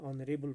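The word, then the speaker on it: honorable: For example N ऑनरेबल person, यहाँ पे एच है पहले, एच यहाँ पे ये ओमिट हो जाता है और यहाँ पे एच साइलेंट रहता है.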